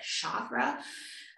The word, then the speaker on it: chakra: of people pronounce it chakra i think in sanskrit it's actually harder like a chicken like chakra um and so when